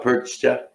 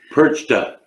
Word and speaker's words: Perchta: You know, Frau Perchta? Mm-hmm. Perch? is he saying it right? No. Didn't think so. I didn't think so. Perchta.